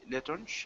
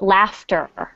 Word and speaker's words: laughter: not knowledge, le, le, la, letonge, This is a tough one. It's actually pronounced laughter. laughter. Yes, I know it looks like a totally different word, but it's Yeah, laughter.